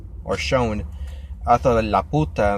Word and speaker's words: Laputa: read it I pronounced Laputa which means the or the in Spanish but it's not la puta they don't put emphasis on the poo it slap you pew so Laputa and yeah when I